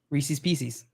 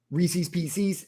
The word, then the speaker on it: Reese's Pieces: Reese's Pieces? No, it's Reese's. They are Reese's Pieces. It rhymes. They're supposed to rhyme.